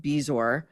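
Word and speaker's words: bezoar: something Jillian Michaels suggested on your show, a bezor, that's spelled be e zo a o a r, but it's pronounced bezor.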